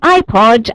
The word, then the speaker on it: iPod: word and very conveniently it is spelled with the letter I pronounced in the letter of the alphabet way so that's a really handy one iPod and the other one